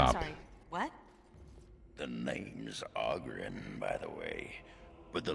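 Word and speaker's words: Oghren: The name's Auggrin, by the way, but the ladies pronounce it Aren.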